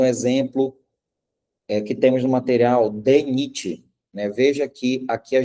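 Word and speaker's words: DNIT: Primeiro pronunciamos a letra D, e depois o restante da sigla, NIT, NIT, a gente pronuncia como se fosse uma palavra, DENIT.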